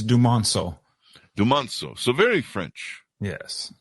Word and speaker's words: Dumonceaux: Can you give me the pronunciation, on your last name, please? Absolutely. It's Dumonceaux.